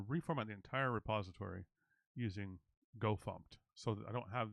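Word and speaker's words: gofumpt: you all heard of go thumped go fmt which is the official go formatter command uh but go thumped spelled with uh f-u-m-t instead of fmt is a stricter formatter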